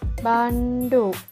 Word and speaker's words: บัณฑุ: เรียน นี้ เลย ค่ะ บัณฑุ อ่าน ว่า บัณฑุ หมาย ถึง สี ขาว เหลือง